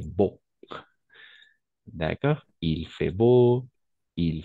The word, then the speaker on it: beau: fait froid il fait la combinaison de voyelles EA et U on va toujours prononcer exactement donc on va simplement prononcer il fait beau d'accord il fait beau